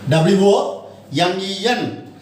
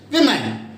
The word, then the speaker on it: women: W-O-M-E-N. How should we pronounce it? Women.